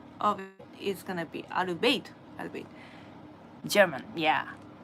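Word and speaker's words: Arbeit: なんですね So the correct pronunciation of it is gonna be アルベイト German, yeah アルベイトちょっと It's kind of embarrassing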